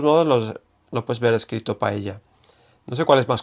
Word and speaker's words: paella: Entonces, es cercana, creo que la elle, no sé cómo explicarlo, pero yo creo que es cercana a la Y, pero empezando con la lengua como si fuera una L, ¿no?